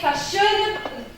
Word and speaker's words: fashionable: You say fashionable. Fashionable. Fashionable. It's 4 syllables. But where's the stress? Fashionable. The first.